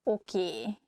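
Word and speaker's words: oké: you like spiders nem this word comes from english probably it's easier for hungarian speakers to pronunciate it that way so we just say a sound a at the end so it sounds okie instead of okay and easiest excuse me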